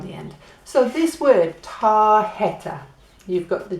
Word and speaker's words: tarjeta: And it makes a h sound. So that's why it's tarjeta.